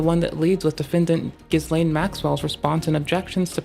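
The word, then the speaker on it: Ghislaine: Not Gizlane. How the do I actually pronounce this? Gizlane. like Giz like G like Guz Lane Maxwell but just call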